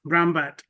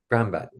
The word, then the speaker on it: Brahmbhatt: Just the way it reads, Brahmbhatt. Brahmbhatt.